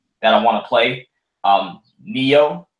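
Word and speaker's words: Nioh: Neo or Nio, however you want to pronounce it. That's Neo.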